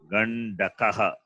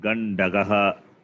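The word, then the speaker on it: गण्डकः: Gandakaha. Gandakaha. No, it's not correct. Again, Gandakaha. there is a problem between gakara and kakara in your pronunciation. It looks somewhat same. Gandagaha. Gandakaha. Not gandagaha.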